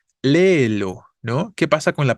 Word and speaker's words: léelo: Léelo, ¿no? ¿Qué pasa con la palabra léelo? Es una palabra esdrújula, tiene tres sílabas, ¿no? Lo, donde la tónica es la antepenúltima y por eso tendríamos que tildar.